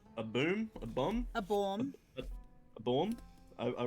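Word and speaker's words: Baume: A bomb? A bomb. A bomb? I wrote it down correctly, I just forgot how to pronounce it.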